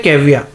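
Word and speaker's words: caviar: Russian he eats Russian कविया इसकी pronunciation क्या है कविया आर इसमें साइलेंट है अब कविया क्या होता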